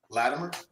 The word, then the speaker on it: Latimer: Latimer, which is what you say. Latimer. I say it with a it almost sound like a D.